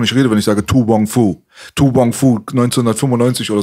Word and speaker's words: To Wong Foo: To Wong Foo. To Wong Foo? Ja, Mann. Also also er hat es richtig ausgesprochen jetzt.